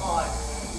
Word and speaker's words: Igor: No, it's pronounced Ivory. But they told me it was Igor. Well, they were wrong then one day.